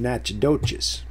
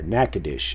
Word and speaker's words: Natchitoches: Ritter and Natchitoches, or Natchitoches, as they say. And there it is. Speak of the devil, Natchitoches. See, but that's pronounced Natchitoches if you're from that territory.